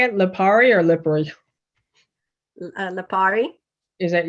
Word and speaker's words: Lipari: Lipari or Lipari?